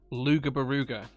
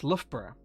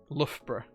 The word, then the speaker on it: Loughborough: that name that word with theramingo and he pronounced it luger beruga that's how he he he he he said it right uh well it's actually pronounced lovebra so hey that's just how things go luca